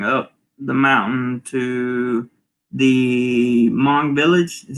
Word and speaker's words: Hmong: days after going up the mountain to the hmong village is how you pronounce that uh ross says chris for three